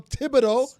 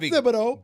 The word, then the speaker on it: Thibodeau: Tom Thibodeau, not Thibodeau.